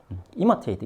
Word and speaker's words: imitate: imitate 이건 맨 앞에 있죠. imitate 그래서 뒤에 t는 거의 발음을 하지 않습니다. imitate 하고 찌 끌어버리죠. imitate 이거는 처음에 시작해서 어떻게 내려옵니까?